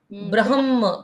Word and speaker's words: ब्रह्मा: यूज़ होता है और ब्रह्मा वहां पर आधा म और ह पूरा होता है ब्रह्मा वो है भगवान